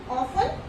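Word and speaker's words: often: Okay, तो क्या है, ऑफन, सॉफन. ओके, तो इसमें क्या है, T यहाँ पे भी क्या है, FT वर्ड का यूज किया है तो इसमें क्या है, T क्या है, साइलेंट है.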